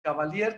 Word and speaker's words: Caballer: que se apellida caballer se escribe caballero nos dicen cavalier pero se escribe caballer